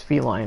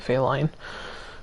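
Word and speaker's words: Felyne: They give you, Feline, or I guess Feline is now how it's officially pronounced, but I've always pronounced it Feline, as a villager.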